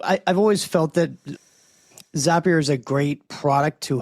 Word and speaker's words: Zapier: Uh Zapier I always heard Zapier makes you happier.